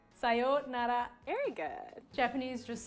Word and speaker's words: sayonara: feel like yeah but everyone accents it with like funky in english so you can learn like sayonara yeah you're telling me that every american has been saying it wrong all this time sayonara sayonera very good japanese